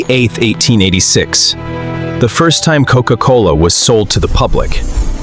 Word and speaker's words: Coca-Cola: Coca-Cola. Two hard C sounds that work in almost every language on Earth.